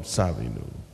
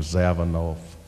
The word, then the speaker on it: Zawinul: And that's better than what Pee Wee Marquette and people like that who have been mispronouncing his name for years call him Zavanoff.